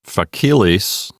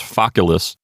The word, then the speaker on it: facilis: It's not facilis. We don't have the accent on the second syllable. We have it on the first syllable because that second syllable has a short vowel, so it's Focalis.